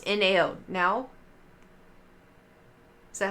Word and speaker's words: Nao: No, Google, how to pronounce Japanese names. Here we go. Now. Is that not what I said? Now.